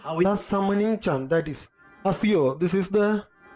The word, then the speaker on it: Accio: The summoning charm, that is Asio. This is the pronouncing word of this magic.